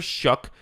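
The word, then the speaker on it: Shough: So they got Tyler Shook is how you say his name.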